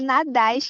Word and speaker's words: Nadaz: É Nadaz que se pronuncia, mas nem todo mundo acerta, então tá tudo Nadaz.